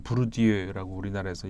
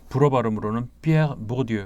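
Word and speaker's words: Pierre Bourdieu: 부르디유라고 우리나라에서 얘기하는 부르디유 이렇게 쓰죠. 그 프랑스에서는 이제 불어 발음으로는 피에르 보르디유 이렇게 얘기를 하는.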